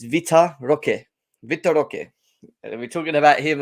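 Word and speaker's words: Vitor Roque: in the name of Victor Rogue as well or okay I can't pronounce these names properly but you know Victor Victor it's not Victor it's Vita Roque Victoria we're talking about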